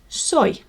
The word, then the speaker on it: soy: it is soy so now literally pronounced as soy sauce or soy milk soy s-o-y and it's a wonderful